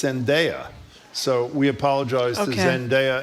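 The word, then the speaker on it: Zendaya: By the way, we mispronounced not only do we not know how to pronounce Zenaia when we pronounce Zenaia, it's not Zenia, it's Zenaia.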